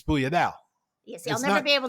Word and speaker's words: sfogliatella: It's Sfogliatella. Yes, I'll never be able to say it. So it's because it's spelled so funnily, differently. It's SFOG. How do you pronounce that? LIATLLE. Yeah, so Sfogliatella.